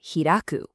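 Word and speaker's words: 開く: So this one here is kai, and as a verb, it's pronounced hiraku.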